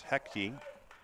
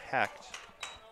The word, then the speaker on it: Hecht: and ladies and gentlemen i have been pronouncing noah's name as hecti all weekend and i've been informed that it is indeed hacked but i swear to you the pronunciation guy says heck t two syllables so that's where my